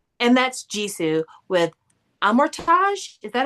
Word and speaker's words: Amortage: I always read it as a mortgage. So yeah, I think it's amortage cuz I think it's supposed to be Frenchyesque pronunciation, but god, who would